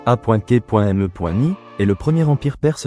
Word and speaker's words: achéménide: L'empire achéménide, prononcé A.K.me.ni, est le premier empire perse de l'histoire.